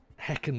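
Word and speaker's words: Häcken: course we took over at BK Hecken. Heckin we're going to pronounce it last night.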